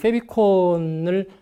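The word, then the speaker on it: favicon: 영어로는 favorite icon, 그래서 페비콘이라고 발음을 하는데, 여러분들 혹시 인터넷을 검색하다 보면 주소창 에 보시면 주소가 나오죠.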